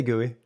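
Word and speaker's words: GUI: do you say in As Americans do you say gooey or or what do you I say gooey yeah all right so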